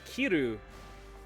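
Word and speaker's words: キル: english words phonetically so kiru is how you pronounce kill in killikel but the japanese word for to wear is kiru as well so it's like wear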